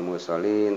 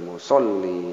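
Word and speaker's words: مُصَلِّينَ: Kemudian lil musolli bukan musallin tapi musolli, ini ada tahzid. Kemudian ini mad arid sukun bisa dipanjangkan bacanya sepanjang-panjangnya.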